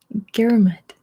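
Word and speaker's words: Ngerulmud: is oh I forgot forgot to look up how to pronounce this Girl Mud I just learned how to pronounce it for the video and I forgot now garamut garum it's Palau get down with Milo understand what I'm trying to say because it's one of those that's spelled or pronounced completely different from how it's spelled Daryl says all the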